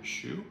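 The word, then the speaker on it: choux: ch o u x is that how you spell it that's the type it does Shoe yeah that it makes it which is a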